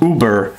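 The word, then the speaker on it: Über: I just want to show you that Uber is spelt O-O-B-E-R pronounced, which I thought was kind of funny. Alright, so anyways, it says Uber, from the German meaning superior, above the norm, or the ultimate.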